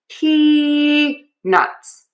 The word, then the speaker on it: peanuts: So to say peanuts, what we're going to do is we are going to start with stressing the syllable P. Peuts. Then we are going to make sure that at the end of syllable number two, we add that T. Nuts. Nuts. So for that t s ending that's really confusing for a lot of people. What I do is I say nut.